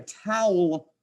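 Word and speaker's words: tau: then here's another uh Greek letter called a tow I want you to think of like a towel like a beach towel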